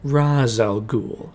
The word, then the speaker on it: Ra's al Ghul: than Ra's al Ghul, or as it's pronounced in this movie, Ra's al Ghul, all to train Bruce